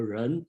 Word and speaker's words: 仁: translation okay in pronunciation in japan they called and then we call run and then some translation called gen g n that depends on the dialect you are using so uh in